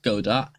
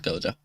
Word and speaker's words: Godot: uh i have considered godot godot whatever it's called um i have looked into godot a bit go though i'm just going to call it goda because i think that's how you pronounce it that's how i hear